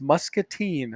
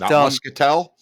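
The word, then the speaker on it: Muscatine: to um Iowa last week I was in pronounced mustine Iowa which I found out as I got there but muskel no not muskel not Mustin Musketeers three muske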